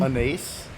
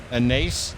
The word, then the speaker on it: anise: Anise. Oh, so you're saying it the wrong way, yeah. Anise. Don't say anise. Instead, say anise. Anise.